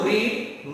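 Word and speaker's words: read: First form रीड, second form रेड, third form रेड। दोस्तों, हम ये देखेंगे कि तीनों में स्पेलिंग तो सेम है लेकिन प्रोनाउंसिएशन के पॉइंट ऑफ व्यू से डिफरेंट हो जाते हैं। रीड, रेड, रेड।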